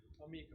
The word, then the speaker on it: D'Amico: It's phonetically D'Amico, like 2 words.